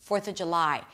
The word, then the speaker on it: July: 'fortha juh-lai' Stress on the 'fourth' and the main stress is on 'July' 'fourth of July' Fireworks Two R's this time!